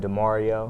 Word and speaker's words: Demorio: Now you are, how do you pronounce it? DeMario.